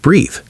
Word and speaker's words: breathe: Eve for action at the end of breathe. He is inside breathe because he breathes. Breathe rhymes with see. Breath rhymes with death.